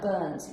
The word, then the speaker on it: burnt: is burnt burnt so you have like a t in the end not a d right yes because it sounds like burnt you burnt the toast